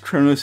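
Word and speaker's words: Qo'noS: the first o and it's pronounced chronos in english because it's transliterated it's spelled q o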